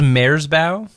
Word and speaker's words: Merzbow: It's he pronounced Maresbow, actually.